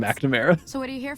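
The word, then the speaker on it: McNamara: Uh it's Magnamera. Actually, no. It is spelled McNamera, but everyone calls him Magnamera.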